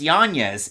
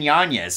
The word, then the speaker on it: Yanez: tied there with Adrian it's pronounced janeez Adrian Yanez so both those guys